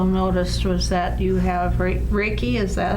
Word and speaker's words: Reiki: that I also noticed was that you have Ricki is that how you pronounce is breaking yes and that you were